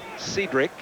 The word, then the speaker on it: Cedric: They pronounce the first name Cedric.